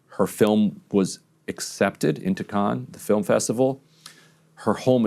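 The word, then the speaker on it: Cannes: a documentary that was uh just accepted into Khan. Is that how you say it? Yes. Um a a huge achievement in the world of documentary film making. The day after her film was accepted into con the film festival, her home is hit with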